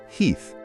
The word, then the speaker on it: Heth: Meanwhile, the Confederate vanguard under General Heth, pronounced Heath, but okay, is marching in, thinking they're about to grab some supplies.